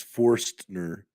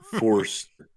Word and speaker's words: Forstner: It's Forstner. Forstner. So there's an N sound in there and a T sound. Okay. Right on. F. Right There's on. a T. There's a T in it. The T is silent. Forstner. Forstner. Substitute the T Forced. for an N. No, the T is not silent. It's in there. Forstner. No, you just add the T after the N after the T, I guess.